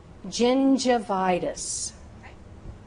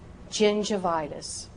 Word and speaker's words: gingivitis: If that word begins with the letter G and is followed by the vowels E, I, or Y. E, I, Y. Use that J sound. Use that soft G sound.